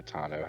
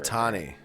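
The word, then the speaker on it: Ohtani: This guy wears a Shohei Otano hat. Okay. Yeah, that's That's I the guess guy. how you pronounce his name.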